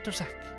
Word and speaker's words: Drzak: We'll put an apostrophe between the DR and the Z, so it's pronounced as 2 separate syllables. Drzak.